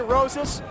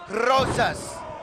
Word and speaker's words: Rosas: the career of ray roses it was the reason he was not pronouncing his name wrong it's rosas array doesn't mind he accepts